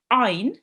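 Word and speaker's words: عين: So this rule, it states that ayn should be pronounced from the middle of your throat. Okay, so ayn. And make sure you don't do a jerk sound as well.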